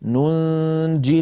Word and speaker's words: ننجي: فلام الكلمه ياء ننجي لم تكتب هذه الياء في المصحف لانها ستسقط في اللفظ عندما نصلها مع كلمه المؤمنين فيكون النطق النطق النطق ننجي المؤمنين وصلا اما ان وقفنا فنقف كالرسم ننج من غير يا في في في اخرها